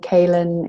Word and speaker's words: Caelan: My name, Caelan, is spelled in a way that I think people